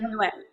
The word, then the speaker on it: Nguyen: And also your co-star, Daniel, I don't know how to pronounce his last name, Daniel Daniel Nguyen. Nguyen.